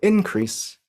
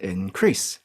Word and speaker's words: increase: for the same word we have increase for the noun but increase for the verb project or project for